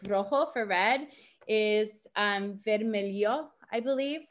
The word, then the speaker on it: vermelho: And there is differences, like rojo for red is vermelho, I believe. That's how you pronounce it, with the H being like a E sound.